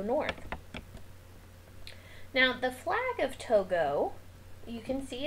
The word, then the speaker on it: Togo: the country of togo it kind of looks like tugo but you actually pronounce it togo and you can see